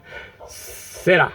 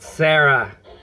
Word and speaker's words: Sera: Sera, okay? It's not Sarah. You need to know how to roll your R's and stuff.